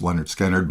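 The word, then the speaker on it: Lynyrd Skynyrd: I mean, they were they developed I mean, it's hard to follow up uh their first album pronounced Leonard Skannard, but I think they did a really great job.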